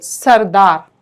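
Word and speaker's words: سردار: तो सीन रे जबर सर, दाल अलिफ जबरदा, बिल्कुल ठीक, आपने इसका बिल्कुल हिज्जे बिल्कुल सही है। दाल अलिफ जबरदा, रे साकिन, सरदार।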